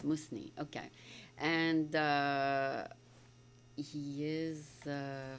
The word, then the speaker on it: Musni: Is it pronounced with the Z? Musni or Musni? More an S. More like an S. Musni.